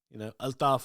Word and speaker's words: Altaf: I do a lot of Asian shows, and as I mentioned, Altaf earlier, Altaf is the way his name is meant to be pronounced, but Altaf for the purpose of this, he has revolutionized the